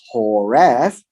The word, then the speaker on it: Horeb: on the rock in horeb now the the v the b is a v so you can pronounce it as horref uh and the rock